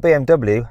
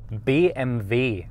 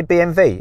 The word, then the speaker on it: BMW: that I'm set in because it's not BMW how do you say this BMV so do you want me to say BMV if I'm gonna say Porsche surely I have to say BMV BMV that's correct yeah it sounds sounds pretty native speaking when you say it okay how do